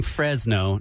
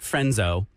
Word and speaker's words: Fresno: we had to have a lesson in saying Fresno not frenzo oh frenzoo about five